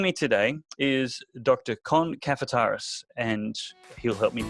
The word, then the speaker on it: Kafataris: Cohn cafe terrace if how i pronounced it right yes David you have well done it's spelled exactly the way it sounds that makes it easy